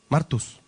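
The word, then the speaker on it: μάρτυς: Martus. Martus en griego, sin H, como se escribe Marta a veces con H, este es sin H, acento en la A.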